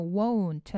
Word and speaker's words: won't: won't 하실 때 T 사운드는 거의 들리지 않습니다. won't이라고 발음하시면 되고요.